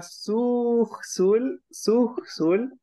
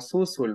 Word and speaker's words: suxul: También la palabra suxul, se oye como susul, ¿verdad?